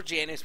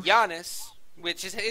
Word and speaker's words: Janus: Now, Giannis, or Janus, whatever the hell you prefer to call him, Giannis, that's how it's said, to be fair. It's Giannis. It's true.